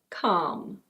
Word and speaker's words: calm: And now a couple of words with a silent L. This one is: calm. Calm.